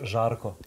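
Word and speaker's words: Žarko: It's pronounced Zarko.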